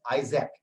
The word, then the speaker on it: IASC: This is IASC, the logo as it appears, and it is pronounced as ISAC.